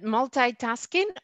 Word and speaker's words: multitasking: I'm good at multitasking or multitasking. You can pronounce it both ways. Both are correct.